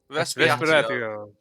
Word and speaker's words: Respiratio: How do you say it? Respiratio. It's Latin.